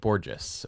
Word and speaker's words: Borges: No, how do you say his name? Borges. That's how he said it. Borges.